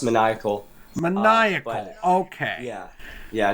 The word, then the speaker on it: Maniacal: Now, the book you published recently is called Maniacal. Did I pronounce the name of that correctly? Not quite. It's pronounced Maniacal.